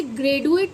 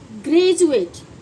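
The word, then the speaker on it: graduate: अब इसे क्या पढ़ेंगे आप इसे ग्रेडुएट तो नहीं पढ़ते ना इसको क्या पढ़ा जाता है बच्चों? इसकी प्रोनंसिएशन क्या होती है? ग्रेजुएट। यही तो पढ़ा जाता है। ग्रेजुएट डी यानी ज की वॉइस निकाल ए यू ए टी यू ए टी ई ऐड होते के साथ ही यह बन गया ग्रेजुएट।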